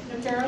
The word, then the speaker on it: Nokero: Evan Hunsey is the general counsel and does business development for Nokero. Is that how you say it? Nokero?